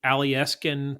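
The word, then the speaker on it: Alyeska: fund in Alaska that was established by the alieskin pipeline and yes that is pronounced correctly that um each he each resident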